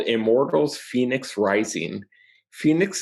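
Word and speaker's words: Fenyx: Phoenix is spelled weird. It's F-E-N-Y-X.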